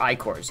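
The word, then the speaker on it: ichors: Or I-cores, excuse me. As the game helpfully informed us they were pronounced.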